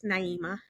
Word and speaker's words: Naeemah: Little things like that, you know, where it's like, no, no, let let's say it right. It's Naima, you know.